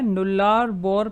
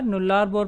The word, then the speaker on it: Nullarbor: अब आपको दिख रहा होगा मैंने यहाँ लिखा हुआ है नुल्लार बोर प्लेन्स। तो इसकी स्पेलिंग है NULLARBOR। तो ये जो रीजन है ऑस्ट्रेलिया का नुल्लार बोर प्लेन, ये बेसिकली एक लाइमस्टोन टोपोग्राफी का रीजन